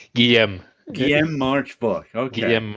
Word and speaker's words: Guillaume: In English, you pronounce it Gilliam. It's not Gilliam. Guillaume.